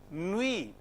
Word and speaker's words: nuit: Nuit, te is silent.